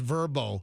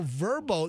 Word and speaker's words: VRBO: VRBO, and I think it's pronounced Verbo.